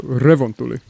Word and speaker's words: Revontuli: They also put more emphasis on the beginning syllable of most words. So Revontuli. You don't go Revontuli. Revontuli. Revontuli coast. Double vowels in Finnish are extended, and double consonants have a little gap before you say it.